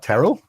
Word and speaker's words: Terrell: And you pronounced my name correctly. What is that about? What, Terrell?